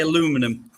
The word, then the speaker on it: aluminum: Sorry, you say aluminum. Yeah, well, that's okay. Aluminium and aluminum, it's the same thing, just different pronunciation, right?